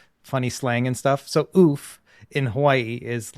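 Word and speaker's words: œuf: So I believe it is oof is how you say it, because my French teacher told me that, and she was not from France.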